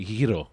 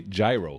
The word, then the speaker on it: gyro: that yeah yeah so in Greek the the the it's like the almost the letter X or whatever has that pronunciation it's the same way you would say Hiro right that's what people say gyro you know what I